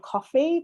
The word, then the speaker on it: Ko-fi: have started using called, I think it's called Coffee, but it's spelled like KO-FI.